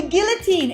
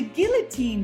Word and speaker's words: guillotine: Okay, so the guillotine is what kind of move? The guillotine, guys, is a choke, okay? Let's practice one more time the pronunciation. Guillotine, okay? Look at this L.